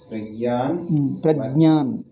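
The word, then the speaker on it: प्रज्ञान: Praja ಏನು ಪ್ರಜಾ ಪದ ಕಲ್ತಿದ್ದೀವ ದೆನ್ ವೈ ಪ್ರಜಾನ್ ಪ್ರಾಜ್ಞಾ ಅಲ್ಲ Pragyan pra is also no dirgha is not there. Did you write dirgha? No, Swamiji. Why write something and pronounce something else? Prajnan Varnayanti Janaha.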